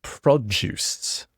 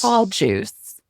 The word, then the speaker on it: produce: So I would say produce like a J like juice that you drink. Orange juice. Produce. Pro juice.